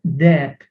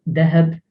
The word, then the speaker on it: deheb: There are some people who pronounce with a slight h, deheb, but it's not that common. The proper way, the official way of saying it is deb.